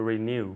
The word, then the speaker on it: renew: okay to renew to renew renew it's like an iu renew renew excellent okay